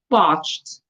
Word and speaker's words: parched: the answer to this will be I am parched p a r c h e d okay